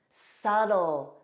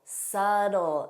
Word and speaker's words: subtle: Debt, doubt, subtle, subtle. And notice that T is pronounced as a soft D in American pronunciation.